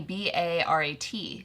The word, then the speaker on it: Bharat: There's two, like the H is aspirated. But it's spelled Bharat. Yeah. Yeah. Bharat would be Barat.